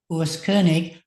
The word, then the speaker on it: Koenig: this actual Urus himself telling me how to pronounce his own name, Kernig, the bear king.